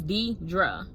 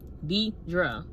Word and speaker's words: Deidre: It's 2 syllables. Like, my name is Deidre. Deidre.